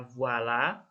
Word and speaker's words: voilà: Tulisannya kan voila ya. Itu cara bacanya voilà.